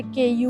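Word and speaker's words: Keiju: हां यहां पे जे को य करके प्रोनाउंस करते हैं। इससे जब हम लेने आए थे तब हम इसे केजू कहते थे। जबकि ये केयू है।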